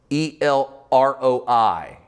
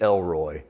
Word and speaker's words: El Roi: I really want it to be Elroy, because it just seems like it would be great, wouldn't it? In my mind, when I read it, I go, she calls God Elroy. It's literally pronounced El Roi, but it's in the